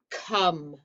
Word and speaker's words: come: c o m e come looks like comb it's come that's what makes it a trick word pause until you have